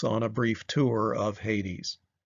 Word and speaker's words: Hades: a brief tour of Hades or as the Greek text would have us pronounced at ha days ha days was the